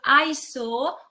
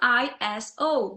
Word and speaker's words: ISO: So we've got the example of ISO or ISO. Both pronunciations are possible.